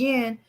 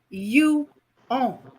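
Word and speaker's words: yuan: on here all right Thunder says what I'm calling the um Chinese Yin is actually pronounced you oh and he says the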